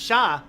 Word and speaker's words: Char: See, I get it because Char Aznabel's name is actually pronounced Shah.